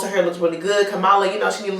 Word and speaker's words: Kamala: And Kamala, there we go. I keep saying her name wrong. Yeah, Kamala.